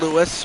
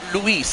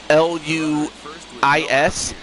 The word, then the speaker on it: Luis: Hey, what's up, Lewis or Luis, I should say. Sorry, Luis. I I have a friend who's also whose name is spelled L U I S, but it's pronounced Lewis.